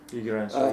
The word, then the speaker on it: Gigerenzer: I guess you pronounce his name Gigerenzer. Gigerenzer, yes.